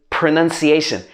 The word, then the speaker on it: pronunciation: to correct me so it's not pronunciation it's pronunciation pronunciation pronounce but this longer word is pronunciation none in the middle pronunciation the next one is